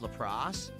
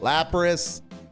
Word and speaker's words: Lapras: Like we got a EX Lacrosse or Lapras, however you say it. Lapras. How do you not know how to pronounce that?